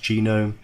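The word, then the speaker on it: GNOME: environment you can have a KDE environment or genome I know it looks like known but the section pronounced genome many others and these are all the different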